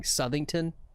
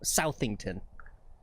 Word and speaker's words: Southington: I know I'm saying it wrong. I know Lex keeps going Southernington. It's South Southington.